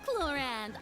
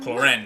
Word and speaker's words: Clorinde: Well, Clorand, I Clorinde. must commend you I always for your mispronounce her name.